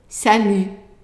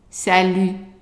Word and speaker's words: salut: So now let's say the whole word, knowing that the T is silent. And remember, in previous videos, I said that when I underline a letter, that means that it's not pronounced, right? So let's pronounce the word salut. Salut. One more time.